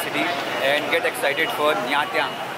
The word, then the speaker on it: Nha Trang: So guys, it's time to say goodbye to Ho Chi Minh City and get excited for Nha Trang. It's the correct pronunciation by the way.